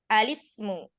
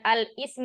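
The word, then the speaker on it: الاسم: Bukan al-ismu ya, tapi alismu. Nah, seperti itu bacanya.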